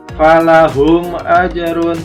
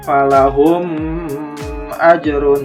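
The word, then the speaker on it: فَلَهُمْ أَجْرٌ: berarti namanya izhar syafawi Jadi falahum ajrun bukan pala home ajrun itu salah dibacanya harus jelas kemudian di ayat ke-6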